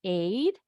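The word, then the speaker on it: eight: Huruf GH-nya nih, konsonannya silent. The GH is silent. Jadi bunyinya cuma E, I, dan T.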